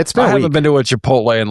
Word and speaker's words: Chipotle: She she was very excited that they got a Chipotle and she pronounced it chapatle.